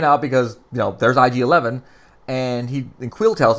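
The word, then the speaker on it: IG-11: IG 11 and yes I said it right I didn't say I jad a say IG 11 thank God kept saying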